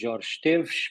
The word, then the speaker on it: Jorge Esteves: So my name is, if you say it properly, is Jorge Esteves, but as a Portuguese is quite complex to pronounce names.